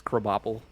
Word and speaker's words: Krabappel: Is it spelled like crabapple? Yeah, but it's Krabappel.